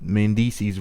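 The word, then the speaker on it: Mendeecees: So Yandy shows up to this fake studio session to ask Jade DeNiro about what she thinks will happen with Mendices rhymes with feces.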